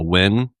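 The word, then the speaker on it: Nguyen: the the number the the amount of time it took me to figure out that uh Wyn is how you pronounce the name that's spelled N G U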